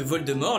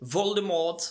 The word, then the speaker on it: Voldemort: C’était aussi le cas de Voldemort, les anglais avaient tendance à prononcer le t Voldemort !